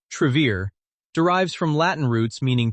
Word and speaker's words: Travere: The name pronounced Trevier derives from Latin roots meaning truth and path.